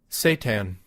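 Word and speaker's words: seitan: I actually How How do you pronounce it in English now? Satan. Satan. You literally pronounce it Satan.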